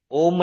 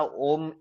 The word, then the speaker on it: ओम: माना ओम ये 3 अक्षरों से बना हुआ है, आ उ म, ब्रह्मा विष्णु और महेश।